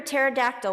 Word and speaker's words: pterodactyl: humor mom why can't you hear a pterodactyl when it goes to the bathroom because it has silent p normally I would ask